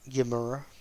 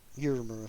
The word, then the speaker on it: Uemura: I know I keep saying his name wrong, it's just Yamura, but Uemura sounds cooler anyway.